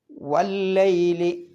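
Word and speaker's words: وَاللَّيْلِ: പിന്നെ വല്ലൈലി. അവിടെ വാവിൻ്റെ ശേഷമുള്ള അലിഫിന് ഉച്ചാരണമല്ല, അതൊക്കെ വസ്ലിൻ്റെ അംസയാണ്. പിന്നെ ലാമിന് എന്ത് ചെയ്യണം? മണിക്കാൻ പാടില്ല, ഇദ്ഗാമുണ്ട്. അപ്പം എങ്ങനെ ഓതണം? വല്ലൈലി.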